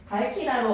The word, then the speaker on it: 밝히다: 그럼 발음할 때 얘는 밝히다로 어간에서 바로 거세 소리 대기 일어나서 밝히다로 발음하면 되지.